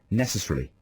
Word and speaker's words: necessarily: most people would say, he insists that the correct pronunciation is necessarily. So you just speed through the beginning? You sort of speed through the middle.